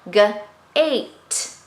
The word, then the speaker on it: gate: Instead, there's a silent E, and when there's a silent E, he's the one that gets to say what he wants to say. He wants, right, the silent E wants the vowel A to say its name, A. So it has to say its name instead of be part of the word family. So this would be g-ate, gate, gate. Okay.